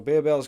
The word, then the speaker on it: Barebells: snack and functional brain barbells or as sometimes we call a bear bells because that's why it's spelled by barbells is what we we typically call it it's just the Swedish brand now we actually have